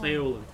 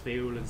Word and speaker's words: Faolan: as Fon um Irish well it's supposed to be pronounced folan it's Irish but f is how I say it because folan sounds a bit dumb